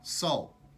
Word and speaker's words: sol: sun is sol but pronounced like s-o-u-l Sol and a real big